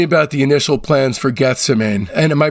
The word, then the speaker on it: Gethsemane: Tell me about the initial plans for Gethsemane. Am I pronouncing that right, Gethsemane? Gethsemane.